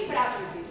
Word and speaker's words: Prakriti: Aquí es Prakriti. Prakriti, recordad que en sánscrito la mayoría de las palabras son esdrújulas. Es Prakriti, es Sarasvati, es Arjuna, es Asana, son esdrújulas, el acento en la tercera sílaba.